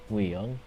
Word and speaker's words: Nguyen: I was originally taught win, but then I was taught it was in when, so I don't know.